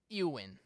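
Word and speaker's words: Éowyn: but we're here to talk again about storm uin that's how it's pronounced they don't they name their storms that's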